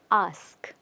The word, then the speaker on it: ask: are saying ask now a lot of people tend to also say a okay but the word is ask repeat ask ask well